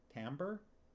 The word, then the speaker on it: timbre: i'd have stars and unicorns on my eyes timbre it's pronounced timbre that's one of those ones i